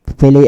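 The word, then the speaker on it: φιλέω: Ito naman, itong verb na phile sa English, yung sa Greek, phile ang kanilang bigkas, phileo naman sa English.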